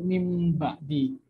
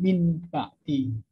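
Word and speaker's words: مِنْ بَعْدِ: Jadi contohnya ini mim ba di. Jadi kalau mungkin lihat teman-teman lihat on cam dari aku, dibaca itu mim ba di, bukan min ba di. Jadi mulutnya itu mim, bukan min.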